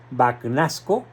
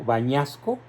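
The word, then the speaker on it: Bagnasco: por este gran cardenal banasco O tal vez se pronuncia en italiano bañasco sí Y dice Espero que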